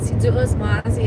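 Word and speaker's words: Si Yu'os Ma'åse: it, most of the time I do say Sidruis Masi towards the end, and that just means thank you in Chamorro, which is the language we speak in Guam. Hafaday, that's how you say hello, and Sidruis Masi is how you say thank you.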